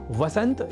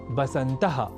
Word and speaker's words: वसंत: ऐसे ही वसंत या वसंतः और वसंतु जैसे शब्दों को बसंतः और बसंतर्तु लिखना और बोलना भी गलत है।